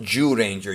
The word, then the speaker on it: Zyuranger: and yeah it's pronounced jew ranger jyu is pronounced like jew like jewish person that's how you pronounce it in japanese juden ja so anyways